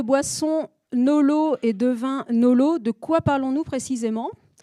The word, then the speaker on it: NoLo: Donc quand on parle de boissons Nolo et de vin Nolo, de quoi parlons-nous précisément ? Donc dans notre jargon anglais, donc les Nolo prononcés à la française.